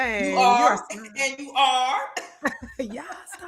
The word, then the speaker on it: Yaa: I pronounced your name right. I meant to ask you. Yes, you did pronounce it right. Yes. It's so cool cuz I feel like I'm calling you an a star when I say your name.